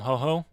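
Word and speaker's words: Hojo: But it's spelled like Jojo, I believe. But it's technically pronounced Ho-Ho.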